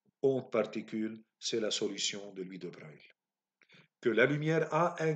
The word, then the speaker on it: Louis de Broglie: Jusqu'à l'arrivée de Louis de Broglie, qu'on écrit Broglie, c'est un français, mais qu'on prononce Louis de Broglie.